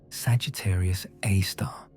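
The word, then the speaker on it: Sagittarius A*: At the very center of the Milky Way, buried behind thick clouds of dust and gas, lies Sagittarius A, pronounced Sagittarius A star.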